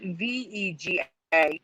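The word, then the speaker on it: WEGA: s sony s series was in fact w e g a not v e g a even though it's pronounced vega there was never a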